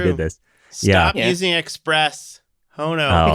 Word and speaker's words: Hono: this stop using Express hono which I've been calling Hano for way too long I actually didn't even